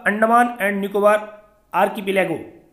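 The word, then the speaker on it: archipelago: समुद्र में घिरे हुए द्वीपों का एक समूह होता है, वो आर्किपेलागो होता है। इसमें आर भी कई बार साइलेंट करते हैं, आर्किपेलागो बोलते हैं इसको।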